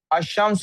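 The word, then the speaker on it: الشمس: अल कमर और अशम्स की ही एग्जांपल ले लेनी चाहिए थी मुझे अल शमस और अल कमर अब आप देखें अल कमर में लाम प्रोनाउंस हो रहा है शम्स में लाम प्रोनाउंस नहीं हो रहा इसका क्या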